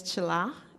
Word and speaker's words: Tshila: Once again, my name is Chila, and it's spelled T-S-H-I-L-A.